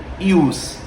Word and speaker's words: jus: ius ou jus né escreve-se jus pronuncia-se no latim ius Até mesmo porque a